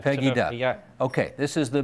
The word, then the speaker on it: Pegida: Is it Pegida? Is that how they say it? Pegida. Pegida.